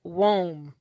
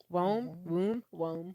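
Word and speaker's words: Woim: It's spelled W-O-I-M. I was like, why y'all just didn't name him Worm? But it's Wom. I think it's Wom. Yeah, Wom. He's British.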